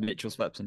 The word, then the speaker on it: Mitchell Swepson: They might go for Mitch Swepson. Oh, I never know how to say his name. You're fine, Mitchell Swepson, yeah.